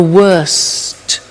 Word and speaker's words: worst: The superlative is the worst. Notice the T. Bad, worse, the worst. Don't forget to pronounce the T.